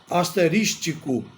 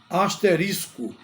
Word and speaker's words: asterisco: exemplo a palavra asterisco muita gente pronuncia a palavra asterístico coloca portanto a palavra como proparoxítona ou seja como acento no i mas na verdade não existe isso a pronúncia adequada É asterisco que indica o quê indica